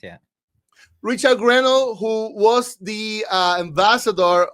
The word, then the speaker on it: Grenell: post from Richard Gren is that how you pronounce it right yeah that's correct yeah Richard grenell who was the uh Ambassador uh who special